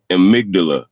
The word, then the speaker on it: amygdala: to say it is amygdala it's spelled amy godalla but it's called the amygdala it's basically like what